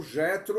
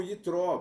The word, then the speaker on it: Yitro: veio na cabeça é o Jetro ou Yitro, porque o J em alemão você vai pronunciar como I, né? Então, em hebraico também, né? Então, não tem J em hebraico, inclusive, né?